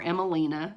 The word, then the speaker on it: Emmeline: And my God, yeah, Abigail Emmeline, or Emmelina, if you prefer the Danish pronunciation.